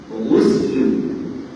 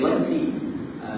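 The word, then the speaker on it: غسل: Kalau dalam kitab fiqah ejaan dia sama juga cuma baris dia berbeza. Kita akan baca guslu boleh nampak. Sebab tu dalam kitab kita ni dia kata mujibatil gusli bukan wasli gusli.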